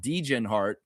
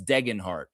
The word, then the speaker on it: Degenhart: they were calling Tyson Degenhart Degenhart. Degenhart. Degenhart. Man, bro, you obviously never watched Boise State basketball announcer for the Skyhawks because his name is not Degenhart, it's Degenhart.